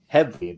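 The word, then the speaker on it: Headlee: at the as a guest host uh adam headfee did i pronounce that correctly you did all right all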